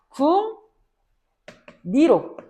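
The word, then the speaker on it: 궁리: 자 국리 종성에 뭐 왔어요? 가장 앞에 있는 음절의 종성자리는 이응이라고 하는 의문이 왔지. 이응은 비음이야. 그래서 앞에 있는 이응이 뒤에 있는 리을한테 영향을 주게 된다. 마찬가지로 심리 같은 경우에는 앞음절에 종성자리 미음 디에 있는 륨 리을한테 영향을 주게 되어서 궁 니로 심 니로 발음이 되는게 순행동화의 예시입니다.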